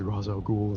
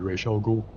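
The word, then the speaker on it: Ra's al Ghul: I know that it's supposed to be Rael Ghoul cuz it's supposed to be the Arabic pronunciation.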